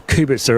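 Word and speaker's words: Kubica: was Hamilton Alonso level kabisa or Kubek sir as a Polish friend of mine tells me it should be pronounced and so why wouldn't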